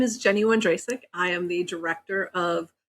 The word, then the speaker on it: Wondracek: So I've been saying your name wrong for a month. I took it for granted it was Wondracek, and it's not. You were saying Wondracek. Wondracek, okay.